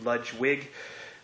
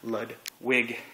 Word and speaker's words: Ludwig: in my last video I called you ludge wig but your last name is Ludwig and just wanted to